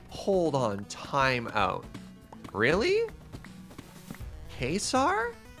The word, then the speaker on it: Caesar: fallout new vegas and they pronounce caesar like caser and oh kaiser it's not kaiser it's not it's like very deliberately not kaiser but it's because that's a different word but it's not caesar either yeah gold the diamonds